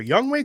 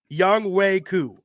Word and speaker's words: Younghoe: No, I'm saying it right. Everyone else is saying it wrong. Younghoe Koo. People are like, "Oh, that's Young-Ho." Like, no, that's not his name, dude.